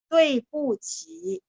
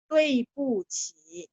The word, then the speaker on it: 对不起: Dui bu qi. Ya. Tulisnya kan D, U, I. Benar nggak? Nah, tadi waktu saya bilang, saya baca D dibaca T. UI bacanya ada E di tengah-tengah. Jadi tui. 对不起, 对 ada 4.